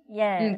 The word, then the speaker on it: yell: 우리 예 하는 발음이에요. 예. yell. 그런데 L로 끝나죠. yell.